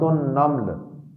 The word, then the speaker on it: النمل: نام ہے سورۃ النمل۔ بلکہ اگر عربی زبان کے پروننسیشن میں اور تلفظ میں ادا کریں تو یہ لفظ ہے سورۃ النمل۔ نمل میم پر جزم کے ساتھ، یہ نملتن کی جمع